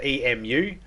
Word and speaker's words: emu: moo it's m-o-o so when someone says emu it makes it sound like it's spelled e-m-o-o but it's not it's emu em you but with